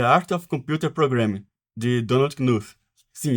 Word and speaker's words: Knuth: of programing de Donald knuth Sim esse k é pronunciado knuth é considerado o